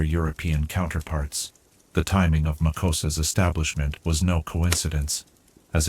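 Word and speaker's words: MACUSA: The Magical Congress of the United States of America, known to its citizens as Makosa, pronounced Makuza, stands as one of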